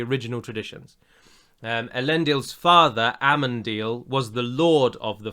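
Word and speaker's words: Amandil: going to bother with a man deal i don't think he'll be in the show or ammon deal is how i should pronounce it but i get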